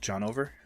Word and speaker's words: Jhnovr: this name is pronounced john over and it stands for john is over yeah okay so title